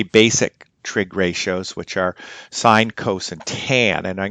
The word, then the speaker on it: sine: sine and coasts and they're pronounced sign and Kosovo's to sin and cost which might be their phonetic pronunciation but we in trigonometry call them sign and Coast okay so